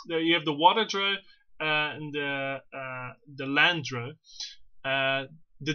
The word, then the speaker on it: Drow: We have the drow.